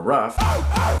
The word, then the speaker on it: RUF: This was made for my good buddy Andrew Bana, and this is a RUF, or a RUF, as some people might pronounce it, Schrodinger 7-string guitar.